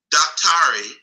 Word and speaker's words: daktari: Daktari, spelled D-A-K-T-A-R-I, is really a sort of Africanized or Bantuicized way of pronouncing the word doctor.